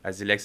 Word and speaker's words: Asilex: ça directement ser jamais Janel Janel Janel mieux azilex c'est bien prononcé non azilex AZ on commence le podcast comme ça aujourd'hui